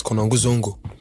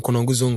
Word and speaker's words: Konongo Zongo: So I moved from where I was, Konongo Zongo. Okay. That's where I'm from, Konongo Zongo.